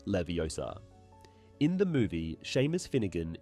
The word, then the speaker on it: Leviosa: However, in the film, she corrects him by emphasizing the correct pronunciation of the spell, Leviosa, not Leviosa.